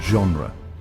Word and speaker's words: genre: but acquiring distinct pronunciations in French G often takes on a soft almost z sound as in the word genre Spanish employs both a